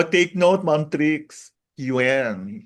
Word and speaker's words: Yuan: O take note, Ma'am Trix, Yuan. Hindi siya Yen. yuan.